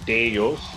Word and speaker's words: Deus: pronunciation first it's actually deyos yeah yeah okay so it's actually Latin though it's actually ancient ancient Latin okay and um this